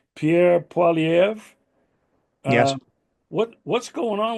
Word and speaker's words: Pierre Poilievre: I'm not sure how to pronounce his name, Pierre Poilievre.